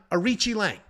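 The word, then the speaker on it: Aoriqileng: fight he's taking on arichi Lang is how you actually pronounce it arichi Lang is a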